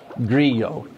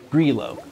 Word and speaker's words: Grillo: isn't like Spanish where it's like a Y, so it's not Grillo. It's Grillo. I mean, there might be a little bit of a Y, like Grillo, all right? I think that's how they pronounce it. But it's a little bit different than Spanish.